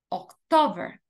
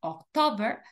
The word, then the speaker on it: October: octubre noviembre y diciembre la sílaba tónica en inglés es la segunda september october November december Okay la la segunda sílaba es la sílaba tónica